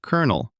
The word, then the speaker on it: colonel: English at its most chaotic like the kern of a corn spelled c o l o n e l but pronounced kernel like the kern of a corn.